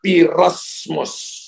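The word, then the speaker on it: πειρασμός: Pencobaan yang bertubi-tubi dalam bahasa Ibrani itu dipakai kata piramos, pirasmos. Bapak Ibu tulis. Tulisnya sebenarnya tulisannya P-E-I-R-A-S-M-O-S. P-E-I-R-A-S-M-O-S. Bacanya pirasmos.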